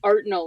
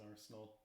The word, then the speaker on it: arsenal: spell in carter's mm-hmm did i say it wrong or did they say it wrong yes there's an s in arsenal i'm sorry that was